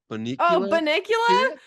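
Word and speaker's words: Bunnicula: Kathy says, "Have you ladies ever heard of the uh Bunicula Bicula?" Bonicula. Is that it? Did I say it right?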